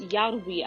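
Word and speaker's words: Järvi: know that the conductor, whose last name is pronounced Yarwi, I think, is well respected and famous, and they're professionals performing, so that's important to know.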